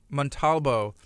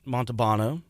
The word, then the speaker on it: Montalvo: So Montalvo, and you said said it right. Sometimes people mispronounce your name. So I get Montalbano, I get Montablo, I get Montablo. I get all kinds of different things.